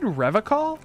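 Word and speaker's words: Revachol: logs at his feet he pronounces with a hard K unlike other people yeah I caught the same thing question said revical I like to pronounce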